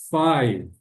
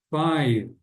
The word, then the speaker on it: five: Five, vai terminar no som de V, né? Five.